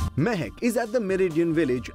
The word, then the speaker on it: Mahec: I am seated comfortably at Mehek, and the first thing I've got to do is tell you what Mehek stands for. Now, Mehek here is spelled as M-A-H-E-C, and it stands for Modern, Authentic, Hindustani, Evolved Cuisine.